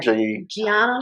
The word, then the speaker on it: Gianna: Gianna. Gianna.